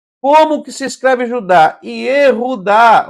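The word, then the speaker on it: יהודה: Como que se escreve Judá? Yehudá, ó, é assim, olha.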